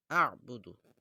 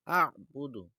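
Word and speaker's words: أَعْبُدُ: তো আমরা এই আ'বুদু শব্দটা অল্প উচ্চারণ করতে কষ্ট হয়, যেহেতু এখানে আছে, আর পরে আবার আইনের উপর কি আছে, সুকুন আছে, তো যার জন্য আ এরকম বললে এরকম ভাবে বলতে হয়।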